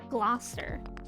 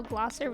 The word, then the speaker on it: Gloucester: Dracula gosskar Oscar exactly sounds like um Gloucester which if you saw how glosser was spelled you would not think that's how it's pronounced I hate Massachusetts words